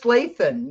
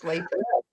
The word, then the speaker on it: Lathan: It's Lathan. Yeah, Yes. it's Lathan. I'm a little traumatized by words that have the TH in the middle because in the Bronx, we always used to pronounce TH words with has a D.